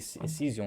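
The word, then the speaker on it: Saison: é isso aí mesmo a pronúncia certa ser isso aí cision né cision Ipa então A nomenclatura sason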